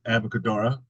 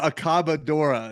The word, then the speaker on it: Accabadora: so last year's soft titled album Easy to pronounce this year you go with aboc cadora yeah accabadora is what it's called yeah yeah and that